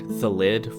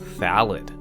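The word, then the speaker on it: Thallid: I have been calling this card thelid for longer than many of you have been alive. For reference, it seems that most of you are convinced that this card is called thalid.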